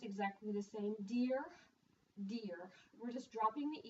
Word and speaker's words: dire: It's pronounced exactly the same. Dire, dear.